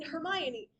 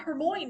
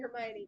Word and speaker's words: Hermione: And yes, and yes, there are people out there who are like, I didn't know until the movie came out that it's not Hermmon.